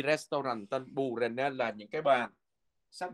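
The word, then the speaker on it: bordene: Cái âm d nó câm cho nên mình sẽ đọc là bù rè nè.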